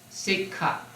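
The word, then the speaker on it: sekkha: now trainees the p word for traines is sik you you have the word on page 179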